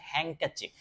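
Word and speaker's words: handkerchief: রুমালের ইংরেজি হচ্ছে হ্যাং ক্যাচিফ। বানানটা আমি ও আচ্ছা আমি এই লেখাগুলোকে আসলে আনহাইড করতে ভুলে গেছি।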